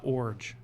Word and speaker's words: Iorg: and it's pronounced Orge. Orge.